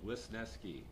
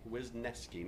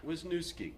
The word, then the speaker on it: Wisniewski: it on record simp three simple syllables wisneski wisneski not wisnoski you people out there